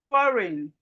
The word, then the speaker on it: foreign: Sign, design, design, design, foreign, foreign, no, no. The G here is silent. And we can see something here. When we have G and N, the G is silent.